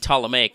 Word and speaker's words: Ptolemaic: like Omega knows that the P and Ptolemaic is silent right and I'm like